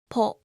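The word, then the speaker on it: ポ: And with a handakten, it will be po, ho, po, ho, po.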